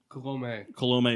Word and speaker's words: Colomé: Is it Colomé? Colomé. It is Colomé. There's a little accent on the E.